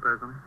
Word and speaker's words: Perazzoni: Is that how you pronounce it, Perazzoni? Yes, that's right.